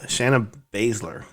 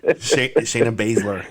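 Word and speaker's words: Shayna Baszler: you um okay uh shannon shannon basler i said it right uh-huh no shayna but you were close she said the last name right that's what matters shayna basler uh she defeated maddie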